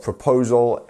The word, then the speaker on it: proposal: uh your proposal um which part of proposal has the stress can you tell me okay if you said it is this part the poll part you were right so proposal not proposal or proposal you see um and that